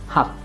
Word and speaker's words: hab: and pay attention to whenever b comes at the end of a word or a syllable its pronunciation is going to change to for example in the word gent or when we say ich haber very often you shorten it and you say there we pronounce it as hap of course don't make